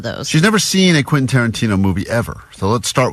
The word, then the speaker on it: Quentin Tarantino: All week, as she's been talking about this prize we have, she's been saying, Quinton. Quintanana. So we're like, what? You talking about Quentin Tarantino still?